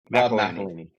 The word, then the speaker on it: McElhenney: I get Rob's last name wrong. McElhenney.